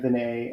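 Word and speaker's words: Venier: This is from a talk from Leanne Vinay at it's spelled Veneer, at the Bulletproof Conference.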